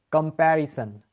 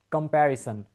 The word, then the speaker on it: comparison: সান, হ্যাঁ, অনেকে আবার সন বলে, সন হবে না, ইটস সান, রাইট?